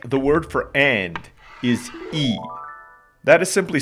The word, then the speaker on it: y: word for and is e that is simply spelled with a letter y but it's pronounced like the english double e like the word see or b b